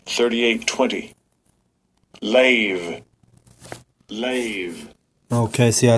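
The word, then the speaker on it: לב: in in Hebrew it's it's said it's called leb all right and actually let me play the proper pronunciation here Strong's H 38:20 lave lave okay see I said it wrong lave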